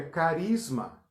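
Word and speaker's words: χάρισμα: Dom em grego é Carisma escreve charisma pronuncia-se carisma e aí não precisa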